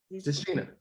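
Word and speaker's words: Tichina: Tashina.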